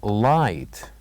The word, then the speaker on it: light: letters light light so here the silent letters are G and H these are the silent letters light and then we move